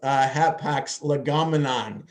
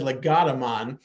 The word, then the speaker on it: hapax legomenon: the appropriate pronunciation of hapax legomenon. Okay, yes, it shows when I said legotomon, it shows that I know nothing about Greek or Latin, whatever language that term came from.